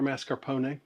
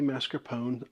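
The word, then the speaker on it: mascarpone: You say mascaron or mascar pony? I go with the uh latter because that's the Italian pronunciation of it, but I know a lot of Americans would say mascarone.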